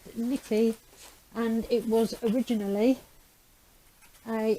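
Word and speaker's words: Necchi: you can see it's a nikki i would pronounce that net cheap apparently it's pronounced nippy and it was originally a italian make well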